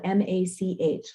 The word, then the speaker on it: Mach: DDS. Okay, is the tag, the Instagram tag. is spelled M-A-C-H, like Mach speed. Okay, not like Dr. Spock, but Mach speed.